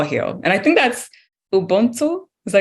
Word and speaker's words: Ubuntu: And I think that's Ubuntu.